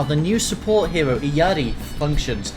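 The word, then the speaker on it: Illari: support hero iyari functions I think it's pronounced the yeti I checked out some Spanish people um and I just checked on what peruvians say they reckon it's pronounced iyari because that's how like the inspiration is so I'm gonna pronounce it Yeti because it works with the language I can speak uh most English-speaking plebs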